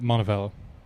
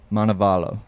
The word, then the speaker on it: Montevallo: and uh remind I don't know how to pronounce the school you guys go to you guys helped me out Montebello Montevallo yep yep Montevallo is that uh I mean